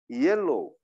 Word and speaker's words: yellow: 원래 발음은 yellow.